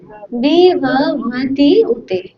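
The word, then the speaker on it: विभवत्युत: দাঁত ভাঙা উচ্চারণ, তাই না? আবার বলি, হ্যাঁ বলো, এই তো সুন্দর হচ্ছে, বলো তো। হ্যাঁ, বিভবতি উতে, ঠিক আছে?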